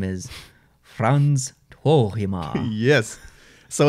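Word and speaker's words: Frans Tuohimaa: And his name is Frans Tuohima.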